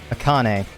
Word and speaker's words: Akane: Oops, I've been saying her name wrong. What the hell am I saying? Akane.